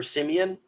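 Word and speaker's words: Siemian: 36-27 correct me if i get his last name wrong trevor simeon that's correct that's how i say it yep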